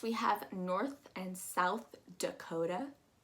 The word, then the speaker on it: Dakota: north and south dakota dakota if you haven't seen our episode on d totally check that out because that's exactly what we're using on that t sound um dakota and that a sound is that u kind of sounding a going down